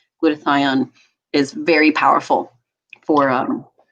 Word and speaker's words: glutathione: it with other powerful antioxidants so antioxidants like glutathione coq10 vitamin D so I recommend doing a